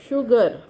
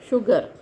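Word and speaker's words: sugar: तो स्पेलिंग तो शुगर है, लेकिन स्पेलिंग में एस अकेला है, पर ये है तो श का साउंड, तो शू ग, शुगर, शुगर ऐसा, ठीक है।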